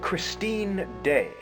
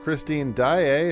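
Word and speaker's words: Daaé: No, I've heard of Christine Daae. Is that what you meant to say? You see how it has 2 A's and an E? That means you don't say it like...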